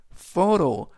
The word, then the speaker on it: photo: 부산 맨 앞에 photo 이때 photo PH가 두 개가 동시에 F 발음 그래서 사진이라는 뜻이 되겠고요.